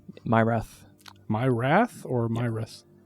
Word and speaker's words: Myrath: I remember their name myrath my wrath or my wrist uh I think it's pronounced like my wrath but it's just one word myrath like m-y-y-r-a-t-h I think